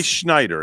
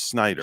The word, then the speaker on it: Snyder: the best of them no not say schneider it's snyder schneider it's snyder william